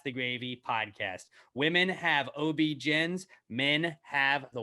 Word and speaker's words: OB-GYN: Women have OB-GYNs. Men have the Y Factor. The new. Are you doing that on purpose? No, in the copy it says OBGEN, like it's OB. First of all, it's O-B-GEN, OBGYNs.